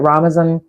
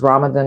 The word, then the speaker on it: Ramadan: And I was saying that Ramadan, which we pronounce as Ramadan, and I'd forgotten that, but I saw a post that reminded me it's not Ramadan.